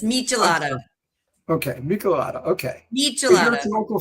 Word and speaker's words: michelada: and events and speaking of Mexico what is the Mada I hope I pronounced that correctly no you you mispronounced it it's michelada okay mik okay me local favorite so tell